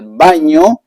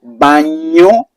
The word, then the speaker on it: baño: We have el baño. So remember the pronunciation of the ñ. El baño, baño.